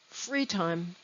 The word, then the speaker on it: free time: line one free time it looks like two words but it is one word free time the stress is on the word free free time in line two